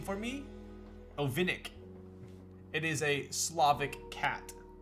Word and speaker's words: Ovinnik: i had already received it can you pronounce the name for me ovinik it is a slavic cat see a little